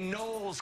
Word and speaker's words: Knowles: And I don't know an artist named Esha, but I know one named Beyonce Knowles Carter, Silent K in the Knowles.